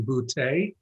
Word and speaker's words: Butte: He knows I know that he pronounces his name Butte.